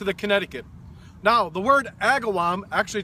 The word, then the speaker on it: Agawam: Now, the word Agawam, actually pronounced Agam, the translation is fish curing spot.